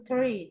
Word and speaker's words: three: Kalau 3 itu nanti teman-teman ada bunyi TH dalam bahasa Inggris itu tiap bunyi TH nanti teman-teman pelafalannya cara bacanya ujung lidahnya digigit ya.